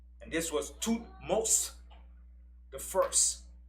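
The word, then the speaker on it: Thutmose: found him she named him after our father toothmost the first and tootmost is spelled t h u t m o s e and this was two most the first right when moses was born so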